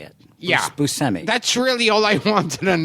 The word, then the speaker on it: Buscemi: Now, is it how do you pronounce it? You said it the way I say it. Yeah. Buscemi.